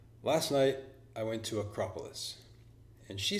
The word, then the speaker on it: Acropolis: was happening you see although my pronunciation was correct in fact we had the same word in English my stress was on the K and her stress was on the a a small change but